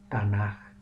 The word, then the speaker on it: Tanaj: forma de café final se pronuncia suave como una j no como una k ni como una c h fuerte por eso se pronuncia tana la razón por la